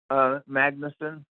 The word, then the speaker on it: Magnusen: Is it Magnusen, sir? Either way is good. How do you pronounce it? Magnusen.